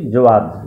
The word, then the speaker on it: Jawad: ঘূর্ণিঝড়ের নামকরণ দেওয়া হয়েছে জাওয়াদ, JAWAD। প্রোনাউন্সিয়েশন বা উচ্চারণ আমরা করছি জোয়াদ, JOWAD।